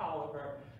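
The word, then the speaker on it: Taliaferro: you know this is the pole white folks pronounce t-a-l-i-a-f-e-r-o that we call a cow Barrel they call it Toliver and it goes back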